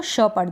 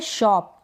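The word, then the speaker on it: shop: तो एस एच को श पढ़ दिया तो बन गया शी यह है शॉप क्योंकि यहां पर ओ को ओ पढ़ रहे हैं ना तो शॉप पी का प शॉप शेप क्या है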